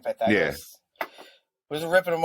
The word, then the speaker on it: Pythagoras: Is that how you say his name, Pythagoras?